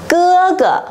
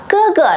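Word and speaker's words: 哥哥: Cái từ này mang thanh gì đây mọi người ơi? Thanh nhẹ đúng không? Thế chúng mình đọc to lại giúp cô nào. Cưa cửa. Cưa cửa đây có nghĩa là anh trai.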